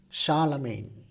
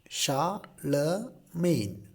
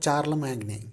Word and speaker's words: Charlemagne: to the next topic role of Charlemagne the pronunciation of that that name is Charlemagne cha la main Charlemagne it's not Charla magnin okay it's Charlemagne so coming back to the topic in the